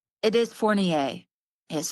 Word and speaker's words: Fournier: It is Fournier. Yes, Fournier.